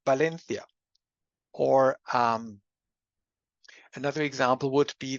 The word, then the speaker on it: Valencia: beginning of a word, so there's always b, so it's Valencia.